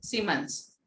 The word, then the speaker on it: Siemens: Third is, अच्छा सीमेंस की spelling SIE MENS, SIEMENS, सीमेंस।